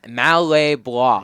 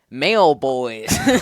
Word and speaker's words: Malay Bois: That's how you pronounce it? Yes, Okay. interesting pronunciation. I think it's like some sort of French thing is what he told me at the beginning of the year. Yeah, But- last time they were on stream, I was pronouncing it male boys.